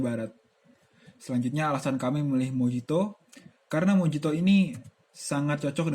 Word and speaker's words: mojito: Minuman internasional yang kami pilih adalah Mojito dari Kuba. Sejarah Mojito, atau yang dalam pelafalan Spanyol disebut mojito, adalah sebuah minuman beralkohol khas Kuba.